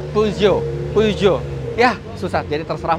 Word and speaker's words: Peugeot: benar ada yang bilang pesio ada yang bilang pejot tapi kalau menurut orang Prancisnya membacanya itu puugio puugo Yah susah jadi